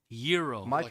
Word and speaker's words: gyros: Um, uh, Arinis had some of the best gyros in town. How do you pronounce it? Euro. Euro. Silent G.